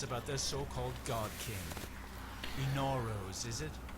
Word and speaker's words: Inaros: Inaros, is it? How quaint. Inaros. Alright, so that's how we're going to be pronouncing it.